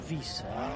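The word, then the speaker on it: Wisse: John Wise, is it? No, He's got an accent. I don't know where he's from, but that was how I think that's how he said to say his name yesterday. Oh, W-I-S-S-E. But it's a Vis.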